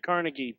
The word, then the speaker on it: Carnegie: Although I pronounce it Carnegie, but that's different. Well, that's the New York way to do it.